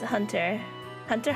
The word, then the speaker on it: Hunter x Hunter: I have never watched Hunter X Hunter. Hunter Hunter. Is that what we call it? Hunter Hunter. We don't pronounce X. The X is silent.